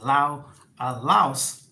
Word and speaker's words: Laos: I'm here in Vientiane, Laos, or as locals say, Laos.